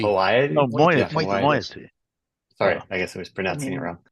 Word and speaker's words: moiety: I mean, there's always moiety, but no one likes By the way, that.